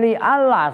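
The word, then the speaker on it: لئلا: Itu kan li Allah, asalnya kan li an. Kemudian nunnya diidghamkan ke lam, bacanya li an, li Allah.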